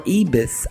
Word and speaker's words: Ibis: my favorite hotel is the Ibis or ebis i b is and boy i s is and Sam I are pronounced with an e sound in Mexico practice your vows i